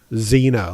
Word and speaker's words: Zena: I like how her name is spelled phonetically. Zena.